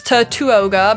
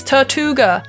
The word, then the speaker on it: Tirtouga: Pokemon guys fun fact I've been pronouncing Tortola wrong the last time I thought it was tattoo ogre but you read it's tattoo gir Tortuga I think fun